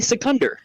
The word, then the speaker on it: Secunder: uh you can even call me secunder it rhymes with thunder um and I'll let